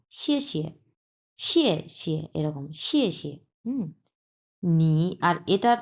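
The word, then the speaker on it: 谢谢你: আচ্ছা, প্রথম অংশটা হচ্ছে 4 নাম্বার টোন। সো আমরা উচ্চারণ করব শিয়ে, এবং পরের যে অংশটা দেওয়া আছে এটা হচ্ছে নিউট্রাল টোন, মানে কোনো টোনই নেই।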